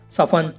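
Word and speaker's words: soften: सफन, सफन की हिंदी है कोमल करना।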